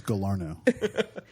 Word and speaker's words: Galarneau: And it's Galarneau.